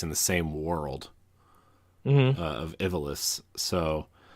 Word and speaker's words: Ivalice: the same world of Ivalice. So, or Ivalice, I think is how it's pronounced. I always said Ivalice, but I think it's called Ivalice. I mean, you know, when